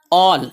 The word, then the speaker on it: all: ALL ऑल इसे आल नहीं पढ़ना.